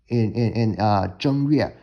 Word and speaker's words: 正月: So, one thing I want to point out here is that the first character here in 正月, that is technically pronounced with the level tone in Mandarin as the first tone, as opposed to more common pronunciation with 正, 我正在吃饭, 我正在做功课.